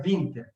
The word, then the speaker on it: Winter: Então, também é o sobrenomecidente de alemão, então se pronuncia Winter.